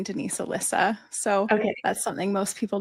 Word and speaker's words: Elysa: Because I just want to make sure I'm pronouncing it correctly. Yeah, no problem. It's Alyssa actually. And my actual name is Denise, but everything I do has always been my middle name, Denise Alyssa.